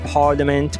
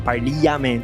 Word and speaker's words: parliament: Villa é e a parliament par lament. Você quer falar parliament?